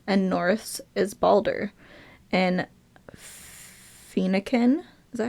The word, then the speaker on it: Phoenician: In Phoenician, is that how you pronounce that? Phoenician.